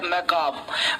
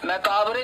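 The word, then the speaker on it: macabre: अगला वर्ड हम लोगों का है, वो है मैकाब। मैकाबरे लिखा है, पढ़ना है मैकाब, आर ही साइलेंट होगा।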